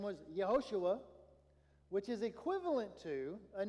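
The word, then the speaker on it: יהושע: The name Joshua is actually a Hebrew name Yehoshua. Yehoshua, right? Okay, that's how it would have been pronounced. They didn't have the J sound.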